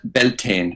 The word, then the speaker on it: Beltane: but it's it's easily easier understood called Bel beltin in the United States and in Canada but belon is the way we pronounce it and the reason we do that